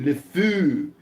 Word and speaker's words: le fou: Le fou. It's how you say it in French.